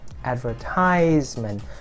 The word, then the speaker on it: advertisement: are two differences here first difference is that the stress is not under third but is on the second syllable and the second difference is that while you the third syllable here the vowel is i advertisement and the third syllable here the vowel is is yeah advertisement is not advertisement but it's advertisement yeah so advertisement advertisement